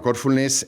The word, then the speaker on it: Corfulness: Bueno, Corfulness es, como se ve por el nombre, tiene una fuerza en el en la primera sílaba, ¿no? En el core, ¿no?